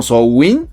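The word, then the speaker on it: Samhain: Estoy investigando que se dice algo así como sou win, algo así, no sé.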